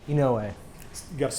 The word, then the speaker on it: Inouye: Inouye. You got to spell that.